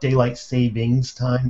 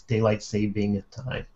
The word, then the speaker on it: daylight saving time: oh and incidentally and even I say it wrong it's not daylight savings time it's daylight saving time before somebody corrects me I know there's no s in there but my tongue just